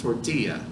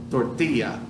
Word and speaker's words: tortilla: You probably already knew it's pronounced tortilla, but the double L in English would make a L sound. But in Spanish, it's a Y sound. Y, tortilla.